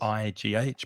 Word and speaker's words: neigh: careful of the pronunciation because the spelling of Neigh is very strange. Yes, very strange. Neigh, but Mm, the vowel sound is the same as way or stay mm, mm, or lay.